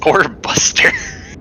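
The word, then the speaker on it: Orbuster: boster right or Buster it's or Buster n that's how you pronounce it that's how you pronounce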